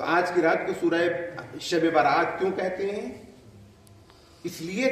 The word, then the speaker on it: شب براءت: سبحان اللہ، شب براءت۔ اردو میں تو ہم لفظیں بگاڑ دیتے ہیں، تلفظ خراب کر دیتے ہیں، لہذا کوئی شبرات کہتا ہے، کوئی شبرات کہتا ہے، کوئی کچھ کہتا ہے، کوئی کچھ کہتا ہے، لیکن حقیقت میں یہ رات ہے شب براءت۔ براءت کے معنی کیا ہے؟